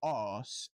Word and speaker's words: arse: We don't spell arse, A-S-S, and pronounce that arse. A-S-S is an ass, which is a donkey. Yes. An arse is spelt with an R, and that's why we say arse and is your derriere.